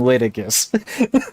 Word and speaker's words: litigious: if you try to screw me, I am litigious. Litigious, I guess, is actually the proper pronunciation.